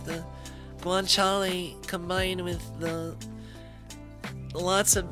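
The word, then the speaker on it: guanciale: It's not guanchal is is always it's pronounced guanchal.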